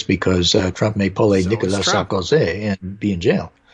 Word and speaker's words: Nicolas: So in France, the S at the end of Nicolas is silent.